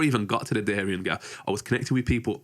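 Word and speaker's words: Darién Gap: So, talk to me about the Darien Gap.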